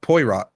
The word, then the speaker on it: Poirot: never read the book it's pronounced Poirot so P so you pronounce it like p uh w a and then uh row you know it's like